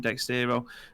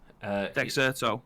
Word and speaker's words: Dexerto: Obviously, Graham's got the second one loaded up as well from Dextero. I can never pronounce that. How do you pronounce it, Graham? Dexerto, that's the one.